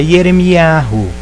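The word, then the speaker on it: ירמיהו: E é Yeremiahu. Aí tiraram a primeira, tiraram a letra Y, que tem um som de I, e colocaram um J.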